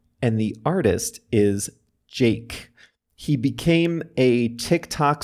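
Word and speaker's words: JVKE: search for it by Jake is the song of the week and Jake is spelled j v k in all caps now it's time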